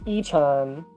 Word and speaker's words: Y-chan: It is pronounced y-chan.